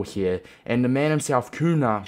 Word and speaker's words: Cunha: it's one nil boys koon is a striker we need a goal here and the man himself kuna pretty sure it's how you pronounce it is in the right